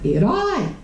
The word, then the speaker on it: herói: Qual é a sílaba tônica? Herói. Herói. Oxítona. Oxítona em oi recebe acento.